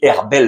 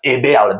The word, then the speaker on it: Eberle: Et pour la prononciation, je vous avais dit Herbel l'autre jour. Max Eberle, bien évidemment le directeur sportif du Bayern Munich.